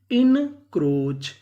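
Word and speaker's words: encroach: बनी इन क्रो और आगे ए लिखा है यहां पे हमें ए का उच्चारण नहीं करना ए यहां पे हमारा साइलेंट रहेगा और आगे सी एच इसे पढ़ेंगे चा तो इतनी मीनिंग क्या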